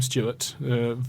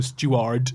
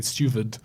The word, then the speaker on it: Stuart: They would have pronounced the W as a V, and it would have been Steward. And so she would have been Mary Steward.